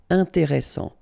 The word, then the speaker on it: intéressant: Intéressant. Double S, same thing here. S, strong, and it opens the pronunciation of your E. Intéressant. Final T not pronounced.